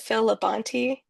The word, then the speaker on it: Phil Labonte: It was like, it was like, I think is, I think you pronounce it Phil Labonte, Yes.